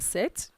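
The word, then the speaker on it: sept: 6 27 then sect remember you don't pronounce the pin set then set 28 then wheat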